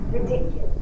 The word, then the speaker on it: ridiculous: Which syllable is stressed? Ridiculous. The second syllable is the stressed syllable.